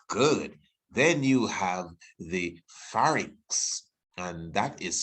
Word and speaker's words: pharynx: Then you have the pharynx, and that is spelled P-H. P-H gives the F sound, by the way.